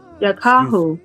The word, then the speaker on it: Yakahu: Yakahu. Yeah, it's Yakahu. Yakaho? Yes, Yakahu. Yakaho. Yeah, that Y, you say it like yeah, yeah, Yeah, like a strong yeah.